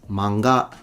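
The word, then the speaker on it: 漫画: He's telling you, oh, the stress is at the beginning. It's manga. It's manga because it's heiban pattern.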